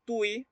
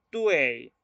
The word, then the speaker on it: tui: Entonces, esta letra no la vamos a pronunciar Tui, se va a pronunciar Tuei.